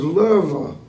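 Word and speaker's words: Loewe: But his name was Loewy. L O E W E, and the W is pronounced as a V.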